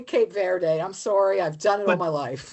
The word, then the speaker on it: Verde: And they're saying in the local Creolu dialect it's pronounced veri. So maybe she heard me doing it what she would consider like an Anglo speaker doing it kind of incorrectly but kind of loyal to what she was saying. Or maybe I heard her saying Cape Verde and I just did verde because that's how I see the E is barely pronounced is everything I'm saying.